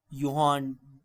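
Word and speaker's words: Johann: तो इसके बाद हमारे पास आया 1817 में यूहान ड्रबनर यह जे है लेकिन यह इंग्लिश में यूहान प्रोनाउंस होता है।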